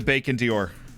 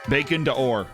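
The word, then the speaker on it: Bacon d'Or: the bacon dior bacon to ore sorry it's not it's not it's not a fashion brand bacon to ore i've been i've been taught i've been coached and how to say it bacon to ore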